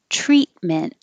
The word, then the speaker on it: treatment: is bearing repealed repealed treatment and you don't have to release either of those t's treat meant and just hold it there instead of treatment treatment envision envision terrorists